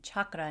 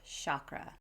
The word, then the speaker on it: chakra: And the A, it's not chakra, it's chakra, more like chuck.